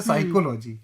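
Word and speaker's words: psychology: जैसे साइकोलॉजी spelling है पी एस वाई। तो अब पाणिनि ने पहले ही बोल दिया। एक व्यंजन का भी उच्चारण बिना स्वर की सहायता लिए नहीं कर सकते। तो वहां तीन है। कैसे करेंगे आप उच्चारण? हो ही नहीं सकता। आपको साइलेंट करना मजबूरी है।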